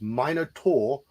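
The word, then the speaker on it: Minotaur: wound caused by flying shrapnel lose it's not pronounced Minar at all halar Minot it's minotour or Minot oh my God John but it's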